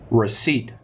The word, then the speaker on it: receipt: 3 2 1 Reed Reed is a tricky word guys is a tricky word because there's a random P we have silent peace now uh Kat Kevin